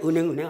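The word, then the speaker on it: 銀行: 은행이라는 게 은항이라고 읽어야 되는데 은행이 관념화 됐으니까 그냥 은행 하는 거예요.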